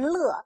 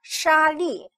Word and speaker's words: 砾: 沙砾这个字千万不要读成乐，沙砾。